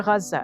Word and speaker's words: Gaza: You see, my husband brought his siblings and their families leaving Gaza, or Gaza, as is correctly, pronounced in Arabic.